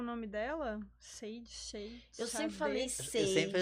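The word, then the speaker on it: Sade: Vocês sabem pronunciar o nome dela? Sage. Eu sempre falei Eu sempre Sage, Xadê.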